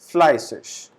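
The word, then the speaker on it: fleißig: known as asset so the pronunciation of this character is double s we call it flyswish that means hardworking old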